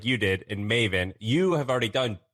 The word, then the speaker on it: Maven: So Maven, how do you say Maven? It rhymes with like Raven.